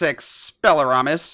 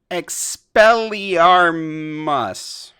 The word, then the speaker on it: Expelliarmus: everybody except us uh our producer meg had to remind aaron how to say expelliarmus before this and aaron was like i know how to say it and then said it wrong anyway expelliarmus there you go close enough community news